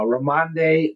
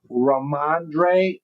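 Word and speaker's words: Rhamondre: Uh uh Ramande Ram Stevenson. Did I say it right? Let's see. Raandre Raandre Stevenson says I knew I was pretty close.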